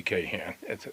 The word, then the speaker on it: Kahn: want to mess with Harvey Kahan that's that's how we pronounce their name back there so I I guess